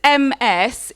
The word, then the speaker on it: Ms.: So, this MS is pronounced Ms. Okay? Or by me, Ms. Ms. So both are okay. Mine's better.